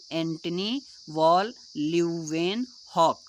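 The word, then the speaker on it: Antonie van Leeuwenhoek: तो वो कौन है, एंटी वॉल ल्यूवेन हॉक हैं। ठीक है, एंटनी वॉल ल्यूवेन हॉक, ये शुद्ध उच्चारण है।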